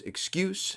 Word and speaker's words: excuse: noun version of it which is excuse not to excuse even has a different pronunciation okay this is the